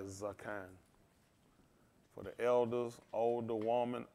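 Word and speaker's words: Zaqan: Zakan. Z-A-Q-A-N. I think it's pronounced like Zakan.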